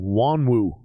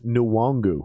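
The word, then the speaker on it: Nwangwu: pronounce my name wrong they keep saying wanwu and my understanding is it's nuwangu i feel like this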